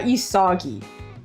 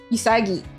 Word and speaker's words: Isagi: That's No, is is not Isogi. You know, so they would be wrong actually if they said Isogi. Isagi.